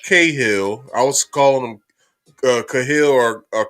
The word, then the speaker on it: Cahill: I've been saying their name wrong. It's Judge Cahill. I was calling him Cahill or Cahill, whatever. I'm sorry for that. I'm cleaning that up now. It's Judge Cahill, and it's also the other officer whose name